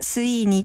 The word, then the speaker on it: CYNHN: アルファベット表記では cy nhn と書いて see にと発音しますます私たちの名前